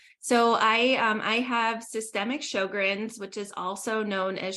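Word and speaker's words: Sjögren's: So, I I have systemic Sjogren's, which is also known as Sjogren's Syndrome. It's spelled funny. It has a J in it. It looks like a chair from IKEA.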